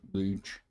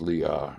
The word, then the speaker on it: Leah: The name of one was Leach, and the other's name of the younger one was Rachel. I think it's pronounced Leah, the daughter, one of his daughters. I was pronouncing it wrong.